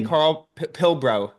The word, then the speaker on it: Karl Pilbrow: man thanks for having me right did I pronounce that correctly Carl pil brro yeah that's right yeah look you can pronounce